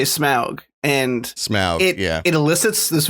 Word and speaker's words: Smaug: We are Smog the Dragon, but we give you content.